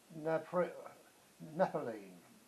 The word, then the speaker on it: naphthalene: Which household item is made from, this is the second longest word I don't pronounce very well. It's called naphthalene.